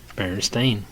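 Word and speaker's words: Berenstain: r e n s t a i n Baron steain just like it's pronounced so why do I have the memory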